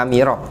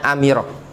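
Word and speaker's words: أَمِرَ: laqod hai hai Hai amiroh bukan Amaro ya bacanya amiroh mananya Hai how kabar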